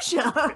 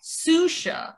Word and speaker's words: Xuxa: Hey, anyway, Dan is here with us today to talk about Shoo-sha. Soo-sha. Shoo-sha. Shoo-sha. Soo-sha. No, Shoo-sha. Every article said it was pronounced Soo-sha. No, did you watch the show? She says Shoo-sha.